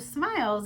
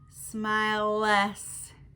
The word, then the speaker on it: smiles: When you do smiles, it's o, s. Like, you don't say smile less. Like, it's, the E is silent.